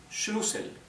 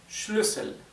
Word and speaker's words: Schlüssel: Si no tuviera la diéresis sería shlusel, como tiene la diéisis o umlout es schlusel. Sí, schlusel. Ahora, si en vez de la doble s tuviese la estet, la u se pronunciaría más larga, sería shlusel. Schluel. Sin embargo, como en vez de una Z tenemos una doble s, es una u corta.